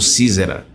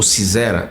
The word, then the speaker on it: Sísera: Tem um episódio da profetisa Débora, que aí tinha lá o famoso Sísera. Lembra? Ou Cisera, ou Ciserá, como tem outras pronúncias que eu já vi.